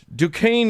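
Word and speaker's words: Duquesne: In 1967, a small group of apparently disgruntled Catholics met at the Catholic Dukane. I have to remind myself how to pronounce that because it's spelled Dquznney. Dukane University.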